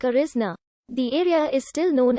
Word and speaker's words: Arizona: blatcher's the platter sonora to the european settlers their pronunciation sounded like arisna the area is still